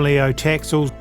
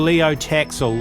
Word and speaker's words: Léo Taxil: Well, Leo Taxil or Léo Taxil, perhaps it should really be pronounced, was also placed in a Jesuit seminary as a child.